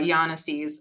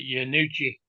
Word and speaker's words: Yanisse's: They probably pronounce it Yanucci. Mhm. Well, they pronounced it Yanisse's up there.